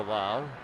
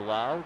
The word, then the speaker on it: Lowe: We have a Lau. Spelled the same, L-O-W-E, but Brandon pronounces his last name Lau.